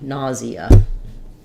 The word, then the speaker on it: nausea: this sometimes is using instead of a j sound um with just the J and the schah we would say it with a a z nause nausea um so that sounds more like three syllables say still first syllable stress um he was experiencing